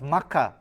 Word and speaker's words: Mecca: because you know in the real mecca which is pronounced makkah by the way you wouldn't see